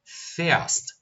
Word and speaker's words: fährst: Percebam que a nossa pronúncia também mudou. Ich fahre, du fährst. Du fährst.